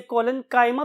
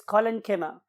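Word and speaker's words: collenchyma: तो बहुत से लोग इसे कोलेनकाइमा भी बोलते हैं, बट the true pronunciation is कोलेनकीमा एंड पेरेनकीमा।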